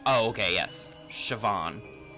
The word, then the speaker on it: Siobhan: like, oh, okay, yes, Siobhan. B equals V in Ireland. Oh, okay, I got you, I got you. So it is Siobhan, technically.